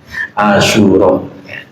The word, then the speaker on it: Asyura: ini puasa Asyura ya Ini harus diucapkan cepat jangan ada Jed Asyura puasa Hari ke-10 di